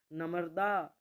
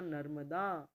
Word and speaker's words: नर्मदा: दश सही होगा दर्शन नमर्दा सही होगा नर्मदा इसे हम ऐसे लिखेंगे नर्मदा न के बाद र का उच्चारण कर रहे हैं और वह लग रहा है म के ऊपर ऐसे ही प्रत्यर्पण पढ़ने